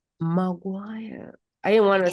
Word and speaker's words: McGuire: Before we even proceed, how do you pronounce the name, the second name? My name, McGuire. McGuire.